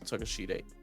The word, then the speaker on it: Takeshita: But I used to pronounce it as Konosuke Takeshita. Yes, that sounds. It's Takeshita though.